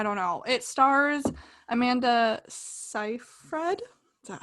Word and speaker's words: Seyfried: julia but i don't know it stars amanda scifred that how we pronounce it yeah awesome did my research got